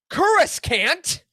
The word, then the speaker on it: Coruscant: cant that's right we're talking all about cus can't um the capital plan that's how you say it the Capital planet of